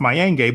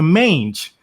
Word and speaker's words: Mayenge: i know i personally my last name is pronounced mayan gay but to be more engulfed in the american culture i changed it to mange to make it sound